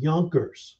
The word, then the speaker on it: Junkers: A lot of the nobility were these nobles that were called Junkers, usually pronounced with a Y.